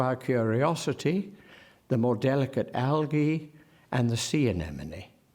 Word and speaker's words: algae: it in your head the most important soft G I think or hard G is the more della Kurt Algy and the sea anemone there are so many ways of pronouncing Al GAE it matters and I think it matters sufficiently for note that for Elliot it is algae the pools where it